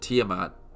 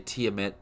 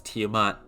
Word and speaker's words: Tiamat: did not really like was that Sila and Tiamat that's how you pronounced it I used to say tiamet it's Tiamat um were just kind of thrown in there